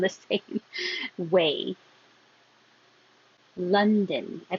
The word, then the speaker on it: London: I put din and done, just because you might hear it or not hear it at all because it's very short. But either way you want to think of it or pronounce it is fine as long as it's din or done.